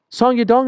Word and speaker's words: Song Yadong: song Yong song Yong song y dong is the right way yep oh my gosh